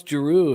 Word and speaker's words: Giroux: love the French hockey how does he know how to pronounce Guru if he doesn't know how to pronounce wah you know questions I don't have anything why are you kidding me what is that look at Giroux it's got an X at the end I'm saying well he